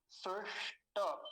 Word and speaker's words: स्विष्ट: मूर्धन्य शकार को तो बिल्कुल नहीं भूलना नहीं तो यही बहुत गलतियां होती हैं। स्विष्ट, और टकार पूरा है, नहीं तो कुछ लोग पता है क्या उच्चारण करते हैं, स्विष्ट बोलते हैं, स्विष्ट, स्विष्ट नहीं, स्विष्ट, टकार को पूरा रखेंगे, स्विष्ट। हो गया पहला शब्द।